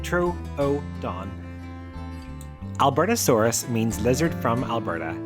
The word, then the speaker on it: Troodon: This is the story of the Albertasaurus, pronounced Albertosaurus, and the Trrodon, pronounced Troon.